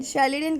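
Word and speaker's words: Schleiden: शेल्डन की spelling है SCHLEDEIN, शेल्डन। शिवॉन, SCHWANN।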